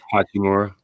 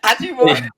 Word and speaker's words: Hachimura: Uchi, how do I pronounce it before I say it wrong? Hachimura. Hachi, so Uchi. Uchi Wally. No, Hachimura.